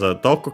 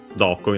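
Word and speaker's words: どこ: But it doesn't stop here, accent, as said, accent on the do.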